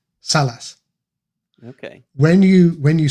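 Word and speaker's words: Sallaz: Salas.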